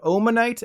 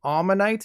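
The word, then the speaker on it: Omanyte: from babies to fossils despite starting with an O neither of these Pokemon have an o sound in their name this means that instead of omanite and omastar you should be referring to them as ammonite and Alma star or Lord Helix depending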